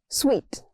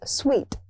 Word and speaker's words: suite: Suite, not suit. It's sweet.